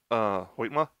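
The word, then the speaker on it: Hoytema: Going back to more Hoytma, is that how you say it?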